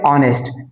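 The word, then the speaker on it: honest: अब देखिए यहां पे ऑनेस्ट तो ऑनेस्ट जो शब्द है इसमें एच साइलेंट हो जाता है। एच नहीं बोला जाता है। ठीक है? ये ऑनेस्ट लिखा हुआ है। इसका देखिए साउंड क्या निकल रहा है? आ।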